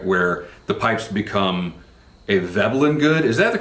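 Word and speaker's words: Veblen: the pipes become a velin good is that the correct pronunciation V I always thought the guy was German I looked him up earlier today he was American so velin I assume is the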